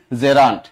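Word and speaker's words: gerund: যদি আইএনজি যুক্ত হয় তখন এটাকে আমরা বলব জেরান্ট আপনারা উচ্চারণ করেন জিরান্ট বা এটা আদা জিরা পেয়াজ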